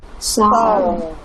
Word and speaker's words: Sağ ol: Skemi, do you remember the G with the crown? You make it longer, right? Okay, silent. It to be silent. And make the vowel before longer, so like Saul. Sağ ol.